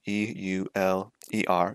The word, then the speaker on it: Euler: you spell his name e-u-l-e-r it doesn't look like you'd pronounce it that way but you do his name is pronounced